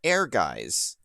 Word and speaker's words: Ehrgeiz: It's called Ehrgeiz, and we were just kind of talking about it before the actual stream really started here.